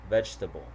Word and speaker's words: vegetable: Okay, so here the vowel immediately after a stressed syllable is frequently not pronounced.